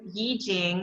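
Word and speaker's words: 易經: With the I Ching, Yi Jing, as it's pronounced, spelled I Ching, mudras and mantras.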